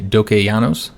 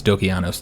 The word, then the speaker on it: Dokeianos: for this campaign so the name of the dynasty is the dokey yanos dynasty if i'm mispronouncing that then just correct me i believe it's dokianos though so we're gonna be